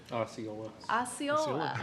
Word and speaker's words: Osceola: We've been corrected on how to pronounce things in New England a couple of times. I'm from Philadelphia. Osceola? Osceola, okay.